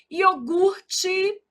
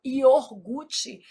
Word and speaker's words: iogurte: Iogurte, o R é aqui. A gente às vezes desloca esse R, fala iorgute. Isso é um erro de ortoépia.